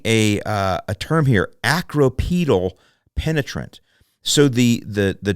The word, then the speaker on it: acropetal: but they're using a uh a term here acropetal penetrant so the the the Triad meon the